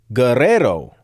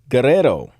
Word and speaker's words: Guerrero: Oh, the U is silent and you go to roll the double R. Okay, so Caesar Guerrero. Guerrero. Guerrero.